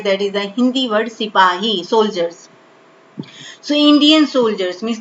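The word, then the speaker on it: सिपाही: Sipahi. Okay, but the pronunciation, the word which was used by the British government, so they called them Sipai.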